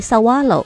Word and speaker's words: Saguaro: 园。Sawalo 仙人掌读音是 Sawalo，即不发音。